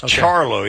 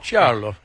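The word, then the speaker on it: Ciarlo: They said it's Charlo. Yeah, I'll believe it. I didn't know if they went with the authentic Italian pronunciation, but apparently they did.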